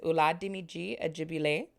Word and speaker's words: Oladimeji Ajegbile: patient with me but i want to take the time to say it correctly here his name is ulat dimiji ajibi lay and he is from